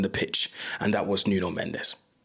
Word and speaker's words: Nuno Mendes: Let's talk about the real baller on the pitch and that was Nuno Mendes. For the Portuguese out there, Nun Mench because I know the Portuguese like me to pronounce stuff correctly.